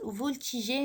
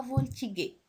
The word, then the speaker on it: voltiger: Par contre, dans ce verbe-là, on va ajouter un petit E après le G. Pourquoi? Pour qu'on prononce voltiger et non pas voltiguer.